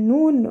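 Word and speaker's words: نون: nommez cette lettre s'appelle noun ou noun mais plus celle-là noun mais dans dans les mots ça se prononce comme le N genre n on dit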